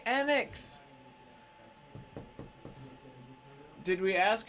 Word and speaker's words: Enix: How do you say Enix?